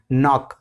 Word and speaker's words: knock: नॉक। नॉक का मतलब, इसमें भी के साइलेंट होता है हमारा, तो KNOCK, नॉक।